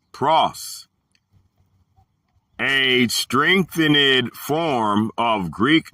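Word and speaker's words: πρός: The word for them is going to be the Greek word pros, pronounced pros, a strengthened form of Greek number 4253, a preposition of direction.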